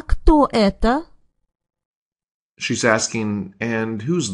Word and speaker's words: Кто: So what is she asking when she says, А кто это? She's asking, and who's this? So, Кто?